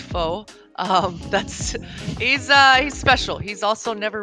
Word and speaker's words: Pho: His alias is spelled Pho, but it's pronounced Fo.